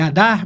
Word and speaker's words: Adar: Adar, você veio, é Adar mesmo, pronuncia.